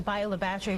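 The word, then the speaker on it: Bayou La Batre: Bayou La Battery.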